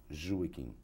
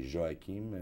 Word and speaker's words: Joaquim: all kinds of pronunciations the correct one is jewish but i'm called you know the spanish call me joaquin the french called me joachim the italians so any pronunciation goes i'm used to it